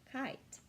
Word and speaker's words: kite: Okay, so we need to add an E to make it say kite.